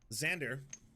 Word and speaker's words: Xander: what we're going with Xander rhymes with slander the only way anyone